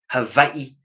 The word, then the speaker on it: Hawaii: you Kat kulani from Hawaii Havi that's the correct correct pronunciation okay original frequencies are